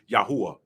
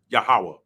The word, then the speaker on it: Yahweh: They'll know that my name is Yahuwah, Yahweh, however you want to pronounce that.